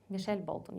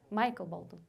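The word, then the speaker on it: Michael Bolton: кейнер Джеймс Бах і Мішель Болтон як його правильно вимовляти так Майкл болton Окей він неображається особисто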